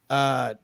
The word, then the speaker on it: Manchaca: Ever tried to spell Manchaca, pronounced Manchac?